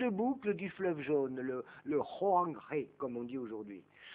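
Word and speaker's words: Hoang He: du fleuve jaune, le Hoangré, comme on dit aujourd'hui. Ça s'écrit H-O-A-N-G et puis H-E. Alors, ce qui est écrit H se prononce R en chinois.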